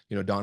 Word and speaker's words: Don: When me and Don first got on this a call, I actually pronounced his name Dan because it is written that way, and he actually corrected me. It is Don, and then he kind of provided his background, and I think that too, folks.